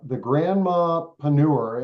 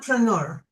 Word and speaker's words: Grandmapreneur: But it's the Grandmapreneur, and am I pronouncing that the way that you like it to be Yeah, pronounced? grandmapreneur. Grandmapreneur.